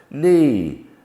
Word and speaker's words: knee: K and N come together in some words, and the K is silent. We simply make the sound n, as in knee, no, knife, not.